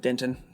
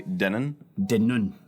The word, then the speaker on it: Denton: dinner exactly sure yes uh uh he mispronounced it it says they say Denon who says that show me the person who says that Glory B Fry Street okay yes they do know Denton then Rice Street Fry Street the bubble man